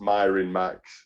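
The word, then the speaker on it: mirin max: short for well it's it's meant to be pronounced myron max but not a lot of people get the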